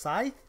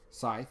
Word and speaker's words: Scythe: So Scythe, I think it's pronounced Scythe. Scythe, yeah.